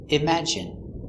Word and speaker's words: imagine: e sound nicotine and sometimes it's sounds like it imagine in imagine there's no